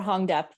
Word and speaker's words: Huong Diep: Can you help me with the pronunciation? Yeah, Dr. Huong Diep. Huong Diep and Meredith Resnick has been released, right?